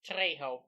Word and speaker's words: Trejo: I know the lead actor's name, but I can't pronounce it. Danny Trejo. Trejo.